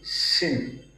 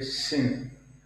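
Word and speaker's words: שין: So we pronounce with the emphasis on H.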